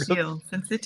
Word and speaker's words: syncytial: look up the word syncytial because I was like, how do you say that? The S part? Syncytial? Yeah.